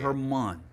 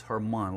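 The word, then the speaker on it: Germán: Herman, is it Herman or Jermaine? How do you say it? Herman. It's Herman, like kind of like Spanish Herman.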